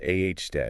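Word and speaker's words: aoudad: Pronounced A.H. dead.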